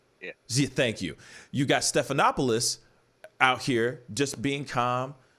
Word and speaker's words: Stephanopoulos: meeting, and you got, I forgot how to pronounce his name, Stephanopoulos? Stephanopoulos? Yeah. Thank you. You got Stephanopoulos out here just being calm, talking to Biden.